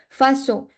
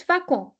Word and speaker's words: façon: So, if we do not add CD, it's facon, and there is no word like facon. So, because in general, by default, it's con, it's pronounced as facon, but the actual word is façon. So, to make it sound like S, we will have to add CD.